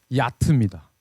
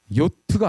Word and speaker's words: 요트: 자, 이 바람을 이용하기 시작한 거는 굉장히 오래됐고 우리가 아까 지금 이제 설명을 계속 제가 요트라고 하는데 사실 이 요트 용어가 발음이 야트입니다. 요트가 아니에요.